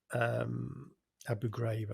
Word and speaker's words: Abu Ghraib: One of the cases that Zimbardo helped with as a witness was at the Abu Ghraib military detention center, Abu Ghraib, I think it's pronounced, in Iraq, where some of the US military were abusing and treating very badly the prisoners there, some of them.